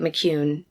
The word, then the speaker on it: McKeown: i mean mispronounce it it's mc and then k-e-o-w-n i think that's the best we can do with mccune again her hair was